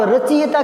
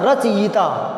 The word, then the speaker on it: रचयिता: तो इसको आप रचिएता क्यों पढ़ते हो, रचिएता, रची, तो रचिएता पढ़ोगे तो फिर गलती कैसे सुधरेगी। रच पढ़ो ना, रचयिता, रचयिता सही पढ़ोगे, सही लिखने में आएगा।